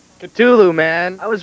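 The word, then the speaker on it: Ktulu: second side of Ride the Lightning the exact pronunciation culu man I was right Jesus Christ culu about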